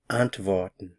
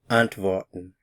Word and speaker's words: antworten: new verb the verb ant vorton ant vorton notice the pronunciation of the W ant vorton Antwon means to answer to reply or to respond the stress is at the beginning of the word ant Von ant Von